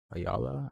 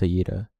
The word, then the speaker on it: Ayira: Ayala? Ayara? How do you say her name? You say Ayira. I mean, my bad. It's Ayira.